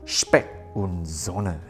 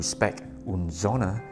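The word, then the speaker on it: Specht & Söhne: Now it does sound like this is a German sounding brand, so let me try to pronounce it the German way, Specht Sohne.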